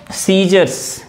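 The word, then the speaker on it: scissors: कि कैसे बताया जाए बट यह जानो कि सीजर्स में एस साइलेंट रहता है है ना तो सीजर्स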